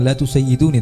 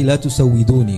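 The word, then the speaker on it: لا تسودوني: Sada yasudu itu kalau misalnya dikembalikan di dalam bahasa Arab, tentu bacanya bukan la tusayyiduni tapi la tusawwiduni, karena sada yasudu bukan sada yasidu.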